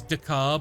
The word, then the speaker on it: Decker: Official pronunciation is Dakar, but Decker was the common name, sort of thing.